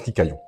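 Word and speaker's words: kikayon: ou un mot ou le mot hébreu d'origine le mot original en fait qui est kikaillon. Je passe l'écriture mais ça ça se prononce kikaillon.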